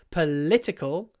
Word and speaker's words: political: poltical but politician so the stress moves in each form of the word politics first syllable political second syllable politician third syllable I